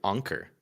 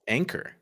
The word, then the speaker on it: Anker: This is the first time I've ever heard anyone pronounce it Anker. I thought it was Oh. pronounced Anchor. I think Anker's right.